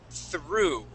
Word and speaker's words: through: through the r yeah so the o u g at the end makes an oo sound instead of we don't we do not pronounce that G and the H it is through through good perfect okay